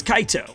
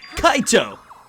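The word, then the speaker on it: Kaito: thing that guy is Kao was it Kao Shi you're saying it wrong it's Kaio that's how you say it only Kaio or kichi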